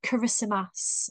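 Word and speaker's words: Kiritimati: and the place where I research is called kissmas it's spelled with a TI but the ti is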